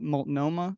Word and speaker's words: Multnomah: So you went to, I think, how do I pronounce it? Is it Multnomah University?